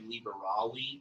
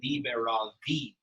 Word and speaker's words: liberavi: So maybe I shouldn't say libera, liberare, liberawi. I should just pronounce the V, liberavi.